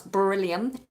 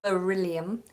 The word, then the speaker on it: beryllium: done sky has just asked how do you pronounce beryllium beryllium beryllium it's a tricky one Julie a happy